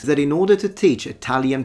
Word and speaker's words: Italia: You do want to emphasize and accentuate the middle syllable, the ta syllable. Italia. No, no one says Italia, it's Italia, Italia. Yes, it's stressed, but that's too much. Like literally, no one speaks like that in Italy.